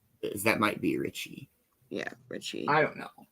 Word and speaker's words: Ricci: Melanie Griffith, Ashley Aston Moore, Gabby Hoffman, Thora Birch, and Christina, I think it's Ricci. It's spelled R-I-C-C-I. That might be Richie.